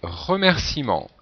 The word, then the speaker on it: remerciement: donc bien sûr là il ne faut pas oublier le E euh qui vient du verbe remercier et qui n'est pas prononcer 5è mot ascenseur alors